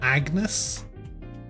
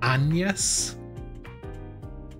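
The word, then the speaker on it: Agnès: that's how that's pronounced it's not Agnes it's anas all right I guess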